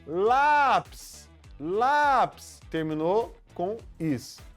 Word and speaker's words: lápis: Vamos para a ideia do lápis de novo? Ó, lápis, lápis, terminou com is. A sílaba forte é a penúltima, né?